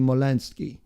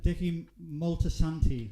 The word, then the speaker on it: Moltisanti: The protagonist will feature Dickie Molensky, Christopher Molensky's father, if I'm pronouncing that right. We'll also see... Go. Molesanti. Dickie Moltisanti. But you have to do it in an Italian accent.